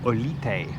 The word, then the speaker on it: Olite: Made it into Olite, which is how you pronounce it.